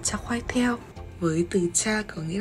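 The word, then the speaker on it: char kway teow: Món tiếp theo thì mình không biết đọc tên đâu, nhưng mà theo cái cách mà chị bạn Malaysia dạy mình thì được đọc là cha khoai theo, với từ cha có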